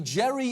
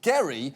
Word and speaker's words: Gerry: wrong to notice that the Jerry in gerrymander refers to a guy whose name was actually pronounced Gary because literally everything about